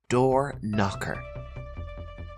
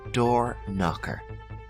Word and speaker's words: door knocker: word is a noun door knocker repeat after me door knocker and here again the K is silent the word knocker comes